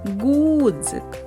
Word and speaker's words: ґудзик: падає наголос покличемо Гудзик ґудзик наголос падає на звук у наступне слово дзьоб запишемо